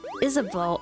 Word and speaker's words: Isabeau: Isabeau. Oh, Isabeau?